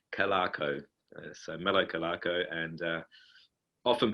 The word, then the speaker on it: Calarco: It's a tricky one, I know, Hank. It's Calarco.